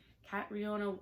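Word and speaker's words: Catriona: Eve by kronia okay I always say her name wrong Kat riona Ward she is the author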